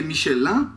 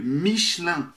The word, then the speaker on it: Michelin: Todo mundo sabe que é Michelin, porque IN em francês você fala hein? Só que em francês não é Michelin. É Michelin. Michelin. Ah, Michelin. Michelin. Michelin. Vai no final.